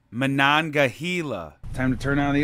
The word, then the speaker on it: Monongahela: light here in the monongala national forest it's pronounced monongahela time to turn on